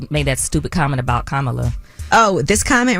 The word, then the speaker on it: Kamala: Kamala. Yeah, I mean, learn how to pronounce that first, and then you know.